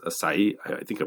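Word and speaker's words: açaí: berries that's that's spelled a c ai it's pronounced asai I think I pronounced that Okay.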